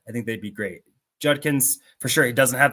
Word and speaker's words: Judkins: gonna put quinan J J Judkins not Jenkins Judkins and Trey vion gota pronounce